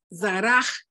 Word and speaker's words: Zaraj: Zaraj. Sara. Bueno, Zaraj. Bueno, puede ser, recuerda que esto viene siendo como una J. Zaraj.